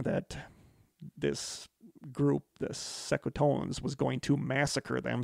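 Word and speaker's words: Secotan: The hostility began soon after their arrival when the English accused the Sekotans, I don't know how to pronounce it, S-E-C-O-T-A-N, Sekotans?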